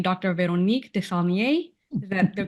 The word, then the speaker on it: Véronique Desaulniers: Véronique Desaulniers. Is that the correct Very pronunciation?